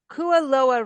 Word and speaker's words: Kualoa: uh you know identity so to speak so kuaa rench am I pronouncing that correctly yes okay so this is